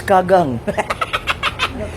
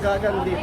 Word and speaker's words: gagan: What is kagang? Said kagang. What is kagang? It's a wrong with the pronunciation maybe. It's called gagan dip. Gagan. It's gagan dip, not kagang.